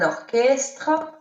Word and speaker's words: orchestre: Parfois, on voit le CH, mais ça se prononce K, comme un orchestre.